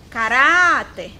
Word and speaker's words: caráter: Caráter, caráter. Qual foi a sílaba mais prolongada? Urá.